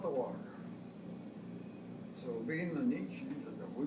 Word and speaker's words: Natchez: So being the Natchez, we pronounce it Natchez, we were sent up there.